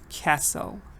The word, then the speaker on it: castle: and it's this one the silent t when the t is silent American British any accent when T is silent it's silent you can't say it so you have to say castle like listen American says listen British